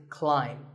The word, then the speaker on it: climb: see on the screen the AI is an I sound not an a sound so the word is climb by the way what's